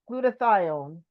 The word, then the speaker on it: glutathione: Glutathione.